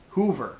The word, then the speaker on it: hover: word hover in it, pronounced Hoover. Hoover is the way that Walt Disney pronounced the word, so this in a way was a subtle reference to Walt.